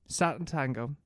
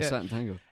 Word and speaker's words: Sátántangó: Sátántangó. Yeah, that's how you pronounce it. Yeah, Sátántangó.